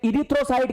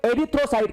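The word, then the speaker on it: erythrocyte: अब इसमें भी थोड़ी सी मिस्टेक है दोस्तों, क्योंकि इसकी स्पेलिंग ई से स्टार्ट होती है, तो कोई तो इसे इरिथ्रोसाइट कह देता है, कोई इसे एरिथ्रोसाइट कहता है दोस्तों।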